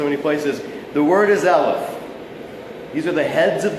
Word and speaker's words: Eleph: The word is Eleph. These are the heads of the Elephs. All right? Eleph. Now, Eleph is a Hebrew word, like Eleph, like the English word elephant. Eleph. E-L-E-P-H.